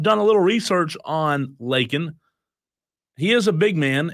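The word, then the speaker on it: Lakhin: Cincinnati transfer big man, Victor Lakin. L-A-K-H-I-N. Am I saying it right? Lakin?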